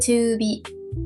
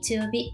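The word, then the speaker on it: 中火: Chữ “hi” biến thành “bi” luôn nhỉ. Chính xác. Đúng chỗ đó dễ vấp lắm. Đọc là “yowabi”, “chuubi”, “tsuyobi”.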